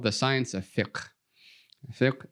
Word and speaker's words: fiqh: Fiqh is a little bit difficult to pronounce because that qaf is in the back of the throat.